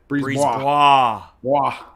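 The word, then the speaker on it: BriseBois: Breeze Bois. That's so fun to say when you get the pronunciation down.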